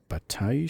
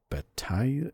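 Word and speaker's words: Bataille: exclusive rights to distribute Batai. I think it's I'm not sure how you pronounce that. It's B A T A I L L E uh Marc Dark in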